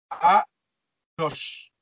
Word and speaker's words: Enoch: Alors, ça se prononce Anoch. Enoch. Ah ouais. Comme je vous l'ai dit, souvent le A est remplacé par un E en hébreu, en grec. Alors, c'est pourquoi on retrouve pas le A.